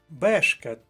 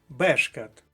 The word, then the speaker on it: бешкет: другий склад вискочила бородавка бешкет перший склад перша колонка бешкет перша колонка дрібний бешкет і останнє